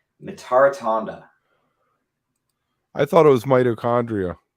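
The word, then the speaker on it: Mitarotonda: Someone's asking to pronounce Rick's last name. Mitaratonda.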